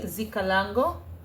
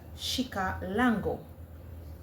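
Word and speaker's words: Xicalango: The correct pronunciation with the sh sound is shika lango.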